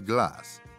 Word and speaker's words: glace: Take the French word for ice cream, which is glace. It's pronounced almost identical to the English word glass, and visually shares some similarities.